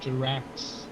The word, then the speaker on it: Jarax: Jarax, like axe?